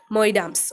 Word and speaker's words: Moidams: Moidams. Okay, it is pronounced as Moidams.